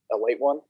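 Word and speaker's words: Ale-8-One: So it's Ale 8-1, but it's pronounced a late one.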